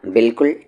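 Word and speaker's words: بالکل: Madam ने कहा बिल्कुल ठीक, बिल्कुल की स्पेलिंग बा अलिफ लाम काफ लाम, और बिल्कुल में अलिफ जो होता है ये साइलेंट होता है बोलने में, लिखने में नहीं।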